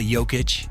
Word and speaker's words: Jokić: Nicola Yokic, his two older brothers, his mother, his father, and his grandmother.